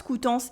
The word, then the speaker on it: Coutances: À Coutances, Coutances is a city, we have the on sound, and the S is silent.